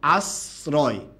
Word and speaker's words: আশ্রয়: কি হবে দন্তস হবে এবার বলুন তো আশ্রয় এর মধ্যে উচ্চারণটা কার মত হয়েছে স এর মতো না ছ এর মত অবশ্যই ছ এর মত হয়েছে তাই এটার উচ্চারণটা কি হবে আশ্রয় এটা হবে কথা কি বুঝতে